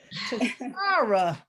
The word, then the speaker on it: Tashara: I forgot to put that long a on it. Tashara.